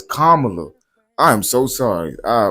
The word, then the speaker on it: Kamala: I'm sorry, I keep saying Kamala. It's Kamala.